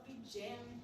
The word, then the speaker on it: JAAMMK: Jam podcast where the K is silent.